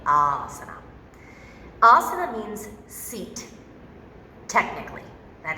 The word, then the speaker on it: asana: It is in fact pronounced asana, not asana. Just so you know, there is a correct pronunciation, and it's a long A, asana.